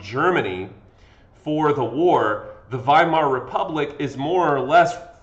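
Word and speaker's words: Weimar: let's talk about the viar Republic now I know it looks like wear Republic but remember that W's in Germany are pronounced as V's so viar Republic this is Germany's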